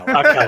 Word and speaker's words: Ahkello: It's Ahkello.